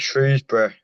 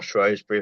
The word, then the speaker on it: Shrewsbury: Oh, you went into management once you retired, and you were at Shrewsbury, or Shrewsbury, however you want to pronounce it.